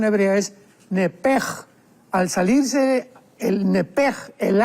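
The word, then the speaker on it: נפש: porque es la palabra nepesh con sh al final. Nep. En el hebreo se pronuncia eh la sh con j. Entonces, la pronunciación hebrea es nepej.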